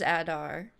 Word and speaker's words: Adar: kill Adar or something Adar I might be saying his whole name wrong welcome to Mordor not walg I hate him I was really hoping I'd never have to see him again you swear allegiance to Adar I do say it wrong it is Adar he hadn't even said